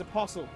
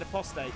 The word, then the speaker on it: Apostle: It's Apostle. I said Apostate.